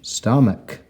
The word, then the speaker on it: stomach: And here's our k sound at the end with the CH, stomach, stomach.